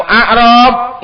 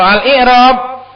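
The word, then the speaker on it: إعراب: Maka bacanya itu dengan hamzahnya dikasr bukan a. Karena kalau a'rab itu jamak dari arabi. Orang Badu ala'rab. Tapi kalau alikrab artinya penjelasan watti lghatan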